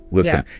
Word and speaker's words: listen: Try listing maybe five words, you know, have silent letters like, you know, hour, listen, island, psychology. Good ones. I know. Say them out loud. Really focus on not saying the silent letter.